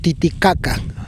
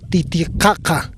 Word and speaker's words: Titicaca: But it is not pronouncing Titicaca, one should say: "Titikhakha"! "Titi" is a puma or a cat, and "khakha" is a color of lead.